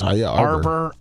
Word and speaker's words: Arbor: Yes, Arbor.